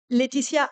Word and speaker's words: Lætitia: My name is Lætitia, which is kind of annoying because no one can say it properly internationally. If you're French, you know how to pronounce it, but else it's difficult.